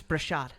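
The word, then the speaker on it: Breshad: It's Brashad.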